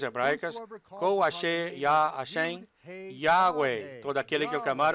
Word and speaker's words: Yahweh: O mundo se afasta ainda mais dessa verdadeira pronúncia, pronunciando erradamente o Yod como J, Jeová, nem mesmo perto da pronúncia correta. Cerca de 7.000 vezes o nome do Senhor Yahweh aparece nas escrituras hebraicas.